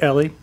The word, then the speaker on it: Eli: Our butler, whose name was spelled Eli, E-L-I, but he pronounced it Ellie.